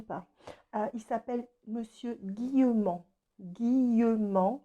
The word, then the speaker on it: Guillemant: Guillemant, comme ça se prononce, et ça se finit par M-A-N-T.